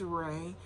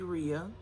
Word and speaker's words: Rhea: It might be Rhea, because that's how I was pronouncing it. As I was reading it, I said Rhea. It's R-H-E-A. But the way the characters kind of pronounced it was like Ray, I guess.